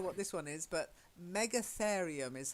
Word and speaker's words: Megatherium: I really don't know what this one is, but Megatherium is how I'd pronounce it. Mega, as in big, and then a therium, so it's a big therium, whatever one of those is. Megatherium.